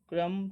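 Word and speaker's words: crumb: अ क्रम्ब नॉट अ क्रम टू be found. इसको कई लोग क्रम्ब बोलेंगे, इसको हम लोग यहाँ पर क्रम बोलेंगे क्योंकि इसको सही प्रोनाउंसिएशन इसके क्रम है।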